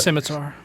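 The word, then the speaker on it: Scimitar: called the skar is that what how you pronounce it but simitar simitar yeah so it's I think it's all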